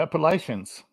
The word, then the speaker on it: Appalachian: say it okay okay it's the Appalachian Mountains I will tell you appach how you say it is imagine you're holding an apple and you're gonna throw an